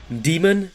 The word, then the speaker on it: Daemon: that we've ever seen demon and yes that is how you pronounce his name i un-ironically had to